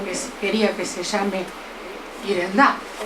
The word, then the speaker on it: Yerendá: Algún paraguayo me puede pronunciar bien, porque no es Yerendá, es Irendá, pero la he dicho de un modo...